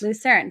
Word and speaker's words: Lucerne: Geneva and last you mentioned you were in lucern did I pronounce that right that's correct lucern so okay let's start with your accommodations there